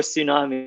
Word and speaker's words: tsunami: is for pterodactyl they're awesome t is for tsunami mean K is for night here M is